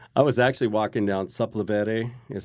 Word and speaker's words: Sepulveda: I was actually walking down Sepulveda, is how you say it, Sepulveda Boulevard.